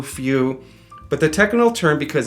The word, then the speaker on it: feu: F E U, Feu. But the technical term, because this is French, is Feu, which means fire.